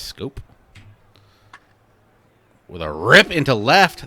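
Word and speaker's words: Schoop: Do you call him Shoop? I always call him Shoop, like the pitcher from Major League 2, I believe it is. But I believe it's pronounced Scope.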